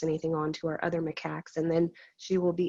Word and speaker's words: macaque: take for uh for is mccocker i'm saying it wrong it's macaque macaque okay so how long